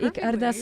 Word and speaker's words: Ik Ardas: You said it Ik Ardas perfectly.